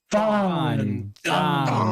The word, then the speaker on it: Fandango: It's Fandango.